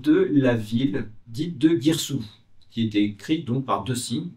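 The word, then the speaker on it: Girsu: connaît plus tard et on sait bien que la ville se prononce Guirsou.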